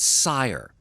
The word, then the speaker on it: Cyre: But you remember hearing about a particular section of Corvair called Cyre, C-Y-R-E, pronounced and spelled in the exact same way that you see on this book.